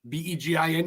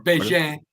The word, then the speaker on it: Begin: I'm Begin, B-E-G-I-N. You said it right, by the way, Begin, French, or Begin. If you're a hockey player, Steve Begin.